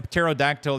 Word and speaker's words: pterodactyl: Why can't you hear a pterodactyl using the bathroom? Because the P is silent.